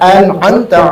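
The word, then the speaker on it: أنعمت: Siratal ladzina an'amta 'alaihim. Dibalik an'amta. Mestinya alif dulu baru ain.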